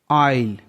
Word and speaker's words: aisle: ऑयल, AISLE, ऑयल, यहाँ पर भी एस के बाद में एल है तो एस साइलेंट है। आइल का मतलब होता है गलियारा।